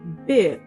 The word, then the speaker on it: build: Did you know that there is actually no U in that word? Yes, there is no U. So do not add the U when you pronounce this word. The correct pronunciation is build. Build. Build. It's actually pronounced the same way as this word, build.